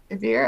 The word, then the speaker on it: WIR: no, it's WIR, beer. I think it's pronounced beer.